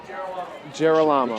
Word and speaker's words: Gerolamo: Looking for Pete Scheler on that play and uh the um that was Joseph Geralamo on the what is the correct pronunciation of his? It it's Geramo. Geramo.